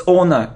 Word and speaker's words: honor: So we have this word, so it isn't honor, it's honor, it's like honesty, so we don't pronounce H. It's like hour, not hour.